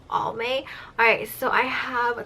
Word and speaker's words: Almay: products right here so some people pronounce it differently I know I think I heard only and then I heard Al mace so I don't really know which way you guys pronounce it but the way how I pronounce it I would definitely say it's just all May alright so I have